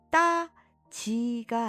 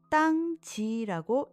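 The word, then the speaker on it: 땅 지: 하지만 다음 글자는 따지가 아니라 땅지라고 읽는 것이랍니다.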